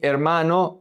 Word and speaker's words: hermano: Mi hermano vive en España. Here, the I is going to connect to the E. The H is silent. Mi hermano.